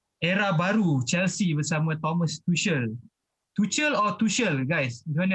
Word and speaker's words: Tuchel: So hari ni kita bawakan khas untuk cerita pasal era baru Chelsea bersama Thomas Tuchel. Tuchel or Tuchel guys? Macam mana nak pronounce ni?